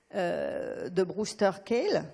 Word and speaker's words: Brewster Kahle: Un mot encore à propos des données, parce que j'ai bien aimé quand Valérie Schaeffer a parlé ce matin de Brewster Kahle. Donc là, je prononce bien, merci.